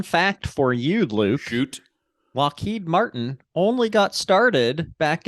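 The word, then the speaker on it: Loughead: When Alan we're gonna go with Lockheed but it's spelled l-o-u-g-g-h-e-a-d fun fact there's some back and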